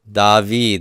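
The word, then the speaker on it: דוד: the Kira code is it's vowel da eed dahveed that's how David is spelled in Hebrew dahveed this is also a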